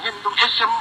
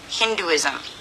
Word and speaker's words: Hinduism: Confucianism, Hinduism, Confucianism, Hinduism. He's emphasizing the ism. It should be like Hinduism, Confucianism. Again, not important, I know.